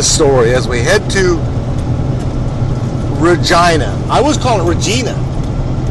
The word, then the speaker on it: Regina: yes she said yes it rhymes with or you have yeah or you said which beat you to a nothing can be finer than to be in Regina and that's the what